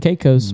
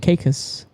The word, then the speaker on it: Caicos: And he said, "Most Americans say it Turks and Caicos, but we say it Caicos."